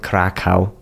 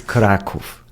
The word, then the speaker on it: Kraków: First of all, I'm from Kraków, which is an awesome city south of Poland, and it's not Krakow. Okay, it's Kraków. It's Kraków. That's the proper pronunciation.